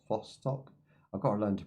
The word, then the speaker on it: Vostok: Now, once you leave, I do think that is perma death territory because that is the Vosto. Vostok. I've got to learn to pronounce this. Vostok.